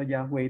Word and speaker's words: Yahweh: Nah, Yehova itu sendiri atau Yahweh itu sendiri itu Hebrew gitu. Itu adalah bahasa Ibrani. Dan memang kan masih bisa dibaca dua pembacaan gitu. Jadi ada yang membacanya Yahweh, ada yang membacanya Yehova, tergantung gitu.